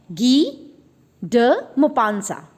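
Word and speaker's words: Guy de Maupassant: है जिनका नाम है गी ड मोपांसा. ठीक है, तो ये फ्रेंच नेम है तो थोड़ी अलग तरीके से प्रोनाउंस होगा, गी डे मोपांसा.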